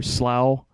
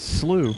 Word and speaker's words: Slough: here yeah alster slooh I didn't know how to pronounce that for the longest time I was like what is that Slough for slow but if you listen to the dialogue it's slooh I suspect the hunter